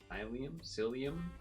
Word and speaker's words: psyllium: Psyllium? Oh, I see a mantis. I said it right? Oh yeah, because like mycelium, but it's like psyllium.